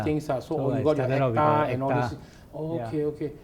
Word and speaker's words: ACTA: It's not auta, it's acta, ACTA, right? Yeah, acta. So you're allowed to conduct classes and write programs. You must have acta to become a trainer in Singapore for WSP programs.